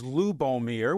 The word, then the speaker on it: Lubomir: He said, "Yes, his name pronounced exactly the way it look." Well, his first name was Lubomir, which is nothing we hear around Alabama regularly, but it's not that difficult of a name.